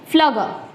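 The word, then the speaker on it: Pflüger: फ्लगर. Okay, P is silent over here or you can pronounce it as per your convenience.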